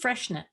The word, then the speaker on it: Freixenet: It's spelled Freixenet, and the X makes you kind of confused, and it's actually just Friexenet or Friexenet.